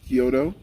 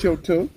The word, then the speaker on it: Choto: not Ugandans, it's Kyoto, Kyoto, but they pronounce it a little different here. So it's Choto.